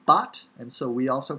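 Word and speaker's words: בת: to so here but is the hebrew word for daughter originally bath bath but modern hebrew bot and so we also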